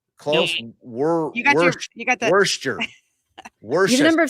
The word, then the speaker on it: Worcester: Wait, let me Worcester. No. Close. Nope. You got the Worcester. You have a number of syllables right.